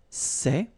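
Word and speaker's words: ces: plural form so masculine plural it would be say okay and then feminine plural good news it's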